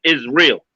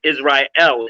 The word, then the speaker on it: Israel: So his pronunciation is off because his wicked masters that gave this word to him, they flipped the A and the E.